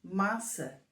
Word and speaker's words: massa: errado Hum vamos ver da maneira como está escrito nós pronunciamos massa que é como pasta mas se escrevermos com um c de cedilha e com um til no último A então vai ser maçã que é o nome